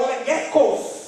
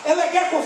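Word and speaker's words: ἔλεγχος: No grego é legechos, ou elegekos. Porque esse H se pronuncia com som de K, elegekos, que quer dizer verificar, testar.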